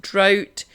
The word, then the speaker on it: drought: dra ugh T so this is spelt almost exactly the same but it's pronounced drought and it means a